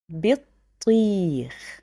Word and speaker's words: بطيخ: I have باء with كسرة, which is pronounced B. Then طا with شدة and كسرة, which you will pronounce it طي. But then I have ياء that will make it long vowel. So you will say بطي. Then the letter خاء بطيخ.